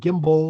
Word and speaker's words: gimble: Make the G hard in gyre and gimble.